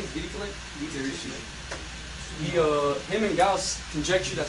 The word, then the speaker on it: Dirichlet: Eventually, around 1838, how do you pronounce this guy's name? Dirichlet.